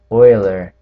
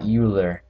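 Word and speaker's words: Euler: is Leonard Oiler and it's actually pronounced Oiler not uler spelled kind of like uler but it's Oiler and throughout your math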